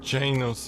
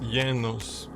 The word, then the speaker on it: Janos: key to my destiny it's not pronounced Janos is Yos Yos Al I like